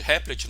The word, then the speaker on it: REPL: Aí você pode me perguntar, mas lá no REPL, que o pessoal chama de Replit, na verdade a pronúncia é REPL, no REPL funciona.